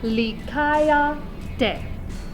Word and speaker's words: likaya: would really pronounce it i is going to become e just like when we're singing in latin or spanish a's or oz is a consonants are exactly what you think they should be so it's lee kaya up here is how